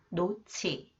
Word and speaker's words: 놓지: cons h it combined with h It is pronounced AS sound 노치 노치 무거운 물건을 올려 놓지 마세요 무거운 물건을